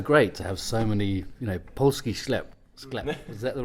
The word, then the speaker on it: Polski sklep: It was so great to have so many, Polski sklep, is that the right pronunciation?